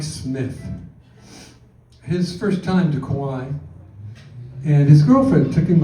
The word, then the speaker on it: Kauai: And that is the proper way to say it, Kauai.